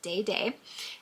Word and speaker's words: Dede: Yes, it is pronounced Dede.